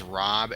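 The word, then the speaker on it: Raab: Okay, so it's Rob as in R AAB.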